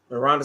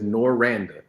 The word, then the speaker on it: Noranda: Rhonda said, you're so You right. say her name right. Wait a minute. It is Noranda.